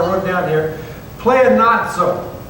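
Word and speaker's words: πλεονάζω: Pleonazzo. Say pleonazzo. It kind of sounds like Italian, doesn't it?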